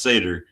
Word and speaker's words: Seder: majority report and Sam Sam Cedar which is pronounced Seder and he's Jewish.